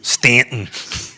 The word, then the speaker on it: Staunton: Number 3 is Stanton. number 4. Staunton. We like the people Leave the U out, evidently.